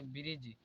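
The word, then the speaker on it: bridge: यहां पर हो जाएगा ब्रिज यहां पर डी कॉमन है कसे जी से पहले डी आया है इसलिए यहां पर डी कॉमन है और य भी कॉमन य पर ब्रज अब एफ साइलेंट देखते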